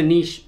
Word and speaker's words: niche: I guess there is a niche for everything or a niche apparently that's how you say it in America but to be fair